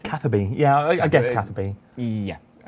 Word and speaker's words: Catherby: bit further, I remember trying to fish in Cataby, is that how you pronounce it? Catherby.